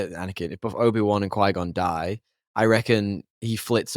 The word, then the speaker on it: Qui-Gon: If they both survive, Qui-Gon then go, why did I say it like that? Qui-Gon, it's like Saigon, then goes Qui-Gon goes and and um trains Anakin and he gets what he wants.